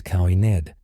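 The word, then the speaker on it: caoineadh: The Irish word is cowined, pronounced roughly quinoa, meaning lamentation.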